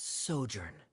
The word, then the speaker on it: sojourn: is everything clear uh uh how do you pronounce this word I love you let me see that's sojourn it means to stay for a while this